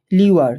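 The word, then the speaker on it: lure: এটার উচ্চারণ তোমরা করবে হচ্ছে লিওয়ার। কি করবে? লিওয়ার। আমি একটু উচ্চারণটা ভুল করেছি, তোমরা ঠিক করবে। এটার উচ্চারণ লিওয়ার।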